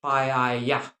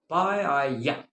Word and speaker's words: paella: and it is pronounced paella. Okay, paella.